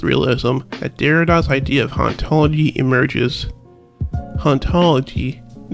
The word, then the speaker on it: hauntology: You see, in Derrida's native French, the H in hauntology is silent, being pronounced identically to the word ontology, which is the study